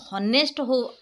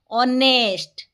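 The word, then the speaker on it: honest: ইজ এ অনেস্ট person ও এটি হনেস্ট উচ্চারণ করা যাব নাহি অনেস্ট ও উচ্চারণ আসতে পারু এন লাগে ও এ আই ও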